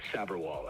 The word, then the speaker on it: Saberwall: It's often pronounced wrongly. Ken's the only one who gets it. It's Saberwall, actually.